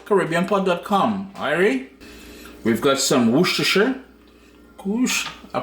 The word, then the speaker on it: Worcestershire: We've got some Worcestershire. Whoosh. I pronounced it correct this time, I think, boy.